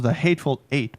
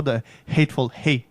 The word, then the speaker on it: The Hateful Eight: Non, ça se prononce The Hateful Eight, pas The Hateful Hate.